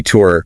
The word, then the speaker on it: tear: It can be tour, rhyming with hear or fear. That's the noun, the drop from your eye when crying. A single tear. Okay, tor. And the other. It's tore, rhyming with hair or bear.